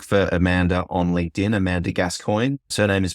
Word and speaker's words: Gascoigne: Google or look for Amanda on LinkedIn Amanda gascoin surname is pronounced spelled g a s c i g